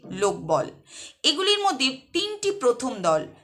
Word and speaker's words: লোকবল: এগুলির প্রত্যেকটাতেই প্রথম যে দল তাতে শ্বাসাঘাত পড়ছে বা জোর বা স্ট্রেস পড়ছে।